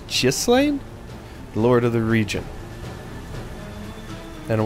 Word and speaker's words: Ghislaine: in defeating G uh gislan I I wanted to pronounce it as Gan but it's jlan lord of the region